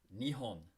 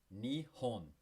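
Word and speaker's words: 日本: Japan to the Japanese is pronounced Nihon. All right? Remember, you got to speak it out loud with me. Repeat after me. Nihon. Nihon. You are in Japan. Nihon.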